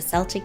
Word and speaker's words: Celtic: One is the first Christmas tree lights, which was a Celtic tradition. Oh my gosh. Celtic. Hard C. It's a hard C.